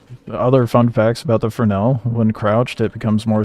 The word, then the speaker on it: Fresnel: Uh, it's the Fresnel. It's the vault LMG spelled Fresno with an S but pronounced Frenel because English dumb.